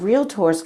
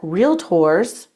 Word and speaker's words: Realtors: The National Association of Realtors Code of Ethics Article 12 says that Realtors two syllables Realtors are to paint a true picture in all advertising and marketing materials.